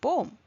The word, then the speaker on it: poem: for some unknown reason I hear Indians pronounce this word as poem. To tell you the truth, that is incorrect in both American and British English. The word poem has two syllables in both, which means in British